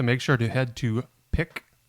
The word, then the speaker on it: PIQ: sure to head to pick which is PIQ which I had to look up is that's the way you pronounce it the gallery on May